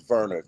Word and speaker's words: Werner: Um, it's it's Warner, but it's spelled Werner. It's on the screen. Wer ne, but it's Verer cuz you know he German.